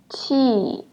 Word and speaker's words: q: So what you're going to do is make your tongue flat and then try to pronounce the word cheese. Cheese, qi, qi.